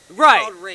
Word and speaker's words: rapé: because it's called ho rape rape it's spelled like rape with a little line on the E okay so it's a